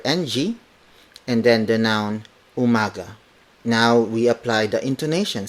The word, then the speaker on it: umaga: Mogga maganda mo mada word for words magandang Umaga magandang Umaga magandang Umaga Magan dong is the